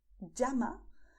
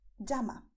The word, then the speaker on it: llama: You can pronounce llama with the same sound that you have in English when you say jeans. Llama. You have another possibility, which is to say llama. Both of them are correct.